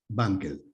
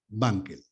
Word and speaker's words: Wankel: Wankel. La W se pronuncia como B, Wankel.